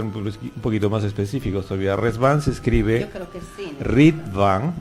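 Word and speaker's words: Riḍván: b chica a n no rit pero pronunciación es res como que es con z no como que fuera r Z no Esa es la pronunciación digamos correcta de la palabra no porque la palabra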